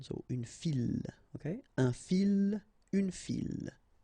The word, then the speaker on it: file: Une file. Okay, so don't try to, don't mix it with une fille, okay, because you get the double L, but in that case you get only one, so une file, okay, un fil, une file.